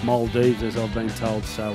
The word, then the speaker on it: Maldives: on a holiday to what I call the nail dies but it's pronounced Maldives as I've been told so I'd like to